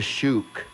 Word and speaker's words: Shuuk: about The Shook.